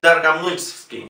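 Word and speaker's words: Dargomyzhsky: ¿Por qué digo Darga? En todas las palabras rusas donde se incluya la letra O, si esta O forma parte de una sílaba que no es la sílaba tónica, en ese caso pronunciamos A.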